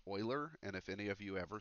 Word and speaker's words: Euler: iPad oops alright so and this name is pronounced Euler and if any of you ever say it any